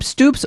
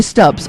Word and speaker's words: Stubbs: Matthew am I is do you pronounce your last name Stoops or stubs you say stubs okay yeah I wasn't